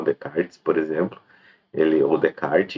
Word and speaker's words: Descartes: decart enfim ou Descartes Tem gente que fala Descartes mas tá errado tá é decarte não se fala o s Alguns falam decartes e me parece que talvez dê para se pronunciar dessa forma mas com certeza não se pronuncia Descartes eh enfim né para